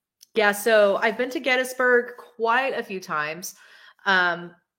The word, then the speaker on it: Gettysburg: holy cow um yeah if you say Gettysburg yetis Berg the locals will correct you um it's Gettysburg it's Gettysburg um yeah so I've been to Gettysburg quite a few times